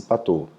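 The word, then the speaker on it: Patau: de pato o inscreva-se para tal pronuncia-se patou na síndrome de pato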